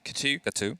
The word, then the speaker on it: Chateau: They have, obviously, Katu, yep, doing fantastic work. Chateau, if you want to do the French original name.